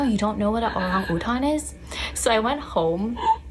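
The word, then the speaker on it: orang utan: If you ever go to Malaysia and see an orangutan, now you know how to pronounce it in Malaysia. Orang-utan.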